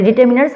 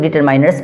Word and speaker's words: determiners: पहले डिटर्मिनर्स आप समझें कि डिटर्मिनर्स आखिर होता क्या है। इसे कुछ लोग डिटरमाइनर्स भी पढ़ते हैं, दोनों प्रोनाउंसिएशन अपने आप में सही है।